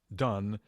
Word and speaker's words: Donne: don i was mentioning his names pronounced done and he wrote a